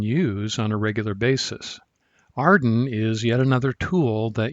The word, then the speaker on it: AREDN: data network which is often pronounced arden based on the acronym made from its first letters arden provides a way